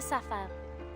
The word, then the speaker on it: sapphire: I'll get the sapphire.